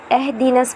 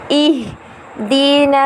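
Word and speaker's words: اهدنا: نعبد و ایاک نستعین، اہدنا الصراط اہدنس پڑھتے ہیں بہت سارے ہمارے جو لوگ ہیں، بہت ساری خواتین بچے جو ہیں وہ ہمارے اہدنس پڑھتے ہیں، لیکن اصل تلفظ اور ادائیگی ہے اہدنا الصراط المستقیم، صراط الذین انعمت علیہم،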